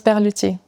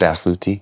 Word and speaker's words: Berluti: Do you know how to pronounce Berluti, by the way, in French? Berluti.